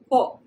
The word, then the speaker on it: po: expression first let's pronounce po this single syllable has the short vowel sound of o and the accent if